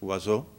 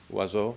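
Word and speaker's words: oiseau: for bird know in French and my French pronunciation is terrible so forgive me it's wazo no o i s e Au U uh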